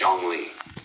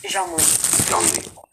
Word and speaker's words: Zhongli: I mean, apparently, in the original dialect, it's a little different, but it's Zhongli. Zhongli.